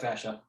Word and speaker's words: fascia: fascia right yep you're saying it right yep fascia that's like this it's surrounding the muscle right